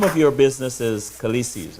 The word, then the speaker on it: Khaleesi's: So the name of your business is Khaleesi's, right? Am I pronouncing it correct right now? Yes, the name is Khaleesi's.